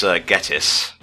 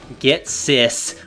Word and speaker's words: Ghetsis: Well, actually, it's Ghetsis. Oh no, Ghetsis. We were both saying it wrong. Holy shit. Get sis.